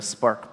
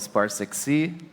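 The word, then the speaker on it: SPAR6C: program manager for the spark project which is uh you'll see here on the screen there's a six in the middle of it but it's pronounced spark although I've been told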